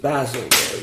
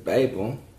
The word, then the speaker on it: Babel: You said basil. You said basil, didn't you? Maybe I mispronounced. What's Basil? The Tower of Basil. Okay, Babel.